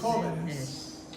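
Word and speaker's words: jóvenes: If I make it plural, I have to add es. Hoveness. Holiness. Jovenes. Hoven. Because the stress is here, next to last syllable, rule number 1. I want to keep the stress here, so I have to put an accent mark.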